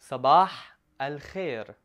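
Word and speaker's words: صباح الخير: tuned now to say good morning in Arabic Sabah I'll hear Sabah I'll hear Sabbagh hell here now let's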